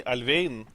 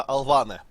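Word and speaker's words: Alvane: Потому что на самом деле ее фамилия не Альвейн. Ну, то есть ее фамилия на самом деле не Альвейн, а Алване. Она в английском языке пишется и читается вот точно так же Алваны, как и фамилия Киана Алваны, собственно.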